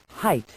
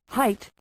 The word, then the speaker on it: height: Some people today pronounce height with a th at the end, height. This is wrong.